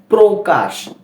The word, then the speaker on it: প্রকাশ: মনে হচ্ছে তাই না এর কারণটা হচ্ছে যে এই প রফলা প্রকাশ শব্দটির প্রথম বর্ণের সাথেই রফলা রয়েছে যেটা রফলা উচ্চারণের প্রথম নিয়ম যখন কোন শব্দের প্রথম বর্ণের সাথে রফলা হবে সেক্ষেত্রে এর উচ্চারণটা ও কারণ হবে বানান করে পড়ি পর